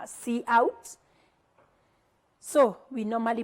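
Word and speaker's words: cout: we have line five what you have called see out so we normally pronounce it as C out this is an object used together with the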